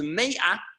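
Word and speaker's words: מאה: But if you add a silent letter, the aleph, if you add a silent letter to it, ma becomes me'ah, which means 100.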